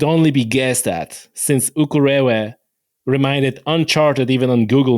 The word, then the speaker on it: Ukerewe: place you were in on the island called Ukerewe. Did I pronounce it correct? Ukerewe.